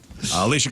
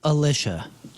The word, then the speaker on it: Alicia: head too are forever Alicia class 53 years old that's your poral birthday those your crappy birthdays and that was your crap on celebrities it's it's pronounced Alisha oh I'm sorry that's